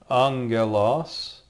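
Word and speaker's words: ἄγγελος: to be aware of a gamma together with another gamma will make an NG sound like an angle the Greek word Angelos is spelled here let's try writing it it's spelled this way Alpha Gamma Gamma Epsilon Lambda Omron Sigma Angelos and I put in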